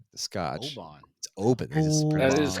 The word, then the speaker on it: Oban: uh we all we all in the US pronounce as Oban Scotch. Oban Obin. That is correct. Before before Jimmy told me this, I did say Oan.